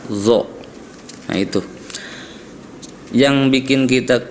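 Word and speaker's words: ظ: Jadi kalau huruf zo itu ujung lidah bertemu dengan gigi seri atas zo.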